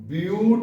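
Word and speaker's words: but: ब्यूट। बट नहीं कहेंगे, ब्यूट पढ़ेंगे। ब्यूट। अब क्या जोड़ना है? एन। सब सिंगल बॉन्ड से जुड़े हैं ना? हिंदी में क्या कहेंगे? ब्यूटेन।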